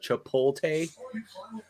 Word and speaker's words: Chipotle: Oh, me Chipotle.